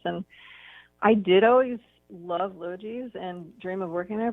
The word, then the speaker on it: Logee's: It's a hard word, but it's yeah, a soft G. Yeah, it's Logee's.